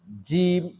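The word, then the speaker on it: ج: একটু নরম সা সা তারপর হচ্ছে জিব এটা একটু শক্ত জিব জিব জিব জিব দাত দুইটা একখানে লাগে জিহ্বাটা উপরে মাড়ির সাথে লাগে শক্ত করে ধরে জিব জিম জিম জিম জিম তারপর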